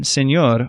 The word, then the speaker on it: señor: If a word ends in any other consonant besides N or S, you stress the last syllable, as in señor or total, which end in R or L, a couple other consonants.